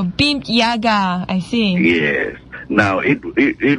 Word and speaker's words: BIMP-EAGA: pronounce that well well we usually call it be Yaga oh beam Yaga I yes now it